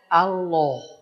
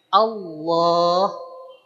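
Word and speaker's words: الله: Maka ketika kita mengucapkan lafaz Allah bukan dengan Allah, tapi tetap aja biasa si mulut kita biasa tanpa monyong. Pangkal lidah kita yang naik. Allah.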